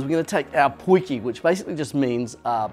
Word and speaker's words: potjie: going to take our poikie which basically just means a little pot in afrikaans so people call it something's a pointy pot but the correct way to say it's just poiky and we're just gonna